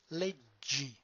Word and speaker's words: leggi: The stem is leg or legge, but when we combine them together in one single word, then the pronunciation is leggi.